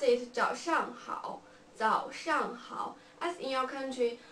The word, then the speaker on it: 早上好: Yeah, we pronounce it 早上好, 早上好.